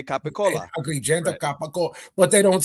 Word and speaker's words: capicola: Like they don't say gabagool. No, they say capicola.